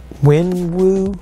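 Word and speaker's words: Wenwu: two of them um here's the third one wen wu is how you pronounce his name comes a couple weapons and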